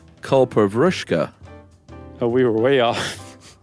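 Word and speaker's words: Kalpavriksha: When you guys talked about the culpa vrishka, first of all, it's not pronounced that way. It is pronounced culpa vrushka.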